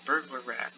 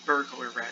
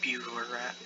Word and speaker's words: Burglar Rat: The burglar rat, it's not bugler rat. I've probably been saying it wrong this entire time, haven't I? My bad. It's a burglar rat, not a bugler rat.